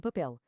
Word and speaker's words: papel: Se a palavra terminar em L, R, Z e algumas outras terminações específicas, a regra número dois é ignorada e a força salta para a última sílaba. É o caso de papel.